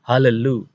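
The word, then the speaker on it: הללו: Misalnya adalah hallelu. Kita melihat di situ ada dua lamet dan di bawah lamet yang pertama ada schwa. Nah, di antara dua konsonan yang sama ini, siswa menjadi hidup.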